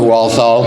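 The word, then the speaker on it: Walthall: thanks I got it Jim always has a little trouble with my last name again I'm walthal I'm chairman of the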